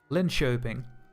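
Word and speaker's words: Linköping: Pronounced the K as sh. Oh, so this is uh Lyn Shaping.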